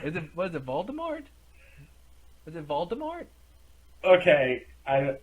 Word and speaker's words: Voldemort: has to fight Smokey which is really uh Voldemort perfect of course it is of Cl is Voldemort is it what is it Voldemort is it Voldemort okay I what are you